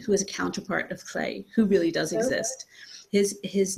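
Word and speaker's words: Lleu: And their names are Clé, which is how you pronounce his weird Welsh name, because he's based on he's based on Welsh mythology, and Gawain, his twin sister.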